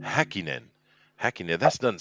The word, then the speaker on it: Häkkinen: But Heikkinen, of am I pronouncing that correctly? Is that how you pronounce his name, Heikkinen? no, Häkkinen. Hakkinen.